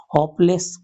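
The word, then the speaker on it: hopeless: The doctor से इट इज खाली स्थान होपलेस केस। यहां पर एच साइलेंट नहीं है। साइलेंट नहीं है तो इसका उच्चारण हो रहा है होप।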